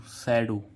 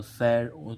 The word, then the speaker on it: shadow: ऐसे ही इसमें देखें SHADOW, सैडो, लास्ट में क्या आ रहा है, OW, तो सैड, तो इसका उच्चारण क्या हो, ओ, तो यानी कि सैडो।